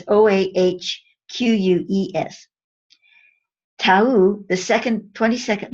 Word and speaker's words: Oakes: It's actually, most people pronounce it Oakes. I've probably been pronouncing it wrong all this time. I don't know. Oakes is what I always said. It's Oahques.